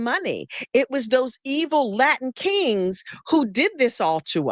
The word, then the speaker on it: Latin King: And I was like, it's not Aladdin King. It's that's why they said Aladdin a King? Latin king, because Luis was a Latin King gang member.